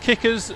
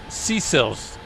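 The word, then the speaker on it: CIRS: guess it's pronounced uh it's either pronounced kickers or C cells depending on what what part of the world you come from but it's c i RS and this is a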